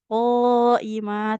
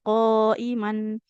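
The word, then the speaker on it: قائما: Nah, dibacanya dua harakat qoimah, tidak qoiman. Jadinya mad iiwat panjang dua harakat. Dan ini hanya dibaca panjang kalau waqaf.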